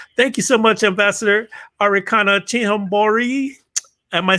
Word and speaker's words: Arikana Chihomboro: very strong one thank you so much ambassador arikana chinhambori am i saying it right am i saying